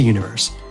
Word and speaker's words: univer.se: all about head to universe that's univer.se but the dot is silent punch those puppies into